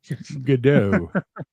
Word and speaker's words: Godot: Godot. Godot, because they're both pronunciations are exist, but I like to say Godot because I like it's waiting God.